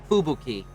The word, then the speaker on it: Fubuki: but yes japanese names japanese words in general there is no emphasis anywhere within the word so ubuki fubuki uh would be the